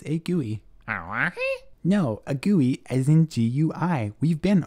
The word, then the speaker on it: GUI: desktop environment it's a gooey no it's not gooey as in sticky it's gooey as in graphical user interface huh because that's how I pronounce it you can say GUI if you want but